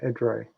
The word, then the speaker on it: Edray: Edray. Sorry, I've been mispronouncing your name, Edray.